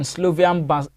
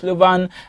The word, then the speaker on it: Slovan: on Lille, and then Slovian Bratislava, beg your pardon for that name. God, some of these names are very interesting to pronounce, but it's Slovan Bratislava, that is the correct pronunciation, will take on FC Midtjylland.